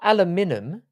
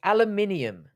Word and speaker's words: aluminium: alumini aluminium it's not aluminum it's not aluminum don't try to trick me with your spelling it's aluminium did you trick me